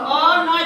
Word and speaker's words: অন্য: অন্য, দেখো অ নয় জফলা কিন্তু উচ্চারণ হয়েছে অন্য, দুইটা নয়ের উচ্চারণ আসে নাই?